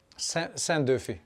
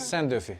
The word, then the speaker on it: Szendofi: Szendofi. Sen, yes, because we were saying Szendofi, yeah. In Poland, when you have an SZ, you have sh. Okay. And Hungarian, I think, is the other way around.